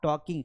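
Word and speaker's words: talk: Simple बोलेंगे वी आर टॉकिंग। अब कई बार ना लोग टॉक का प्रोनाउंसिएशन ही गलत करते हैं, उसको टाक बोलते हैं। ये टाक नहीं है, दिस इज टॉक।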